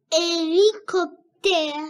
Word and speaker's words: hélicoptère: veux lire le mot hélicoptère très bien alors on pas prononcé la lettre H d'accordélicopère non prononce hélicoptère alors la lettre H ne se prononce pas alors regarde bien ici